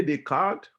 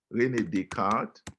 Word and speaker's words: Descartes: on modernity um really Descartes they need the card because I'm pronouncing his name in French because he's in French but let me put